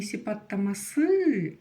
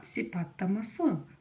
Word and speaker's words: сипаттамасы: самом деле тоже всё просто букву Ы в русском языке Вы умеете читать в казахском языке она просто звучит коротко вот и всё сипаттама со о не сипаттама сы а сипаттама со коротко она произносится очень очень коротко Ну а теперь всё